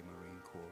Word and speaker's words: Marine Corps: Say Marine Corps, remember the S is silent.